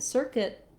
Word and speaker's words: circuit: And we also have a difference in our U here, whereas in circuit it's silent. In circuitous, it actually represents two sounds, the y sound and the u sound.